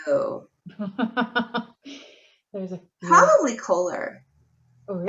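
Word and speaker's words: Köhler: Probably Kohler. Oh, really? And I know I don't say his name right. A German friend of mine said it's something like Kohler. Okay. Kohler.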